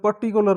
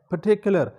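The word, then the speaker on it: particular: پرٹیکولر events, dear viewers یہ لفظ پرٹیکولر نہیں ہے، پرٹیکولر. Oxford advanced learner dictionary کا تلفظ میں فالو کرتا ہوں، تو وہاں جا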